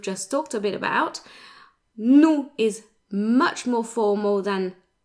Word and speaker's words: nous: The S is silent and the OU is a short, stable sound.